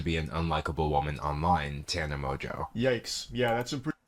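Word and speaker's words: Mongeau: them happens to be an unlikable woman online, Tana Mojo.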